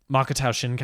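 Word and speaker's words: Makoto Shinkai: his other movies um makata shinkai I believe is how you pronounce his name brilliant filmmaker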